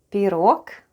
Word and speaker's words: пирог: Пирог.